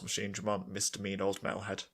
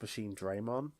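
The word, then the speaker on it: MachineDramon: destroyed, but that's not how you pronounce it. It's Machine Draymon.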